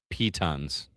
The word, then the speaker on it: piton: By the way, it is pronounced pitons. Pitons. Mm-hmm.